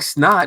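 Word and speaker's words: $NOT: uh i really like snot he's from south florida it's spelled like dollar sign n.o.t it's not um he has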